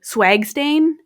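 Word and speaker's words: SWGSTAIN: of laugh at because it's condensed to swag stain I mean like it's without the a but I pronounce it as swag stain I love it um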